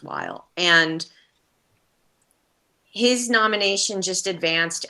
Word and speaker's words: Weil: is david weil yes it looks like wheel on paper w-e-i-l but i think it's pronounced while and his nomination just